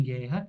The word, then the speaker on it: guerra: É importante notar que nos dígrafos G, U e QU, o U não é pronunciado, quando seguido de E ou I, como em guerra e quintal.